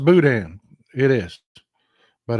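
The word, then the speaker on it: boudin: o u d i n not not it's pronounced Budan it is but it's it's it's chicken and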